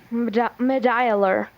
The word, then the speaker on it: medullary: Medullary. Could I have the language of origin? Medullary is probably from Latin. Are there any alternate pronunciations? I see just one, medullary.